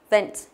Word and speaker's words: event: Trọng âm của nó rơi âm tiết thứ hai. Nhớ là phải đọc y nhớ chưa? Âm nào nó không được nhấn thì mình đè nó xuống, đọc là y đúng không?